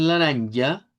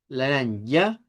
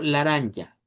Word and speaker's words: laranja: Porque si yo lo digo con la a del español, digo laranja, e rosa, lilas. Pero cuando lo decimos con la A centralizada, le da otro enfoque, le da un en una entonación diferente.